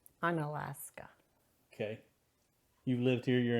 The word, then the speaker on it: Unalaska: How do you pronounce it? Unalaska.